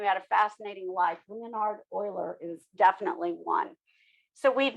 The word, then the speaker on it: Euler: that's not correct okay it's a german name so um it's euler like o-i-l-e-r but spelled e-u-l-e-r so this is e